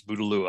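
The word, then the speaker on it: Bouteloua: name of that genus budalua at least that's how i've heard it pronounced side oats grandma another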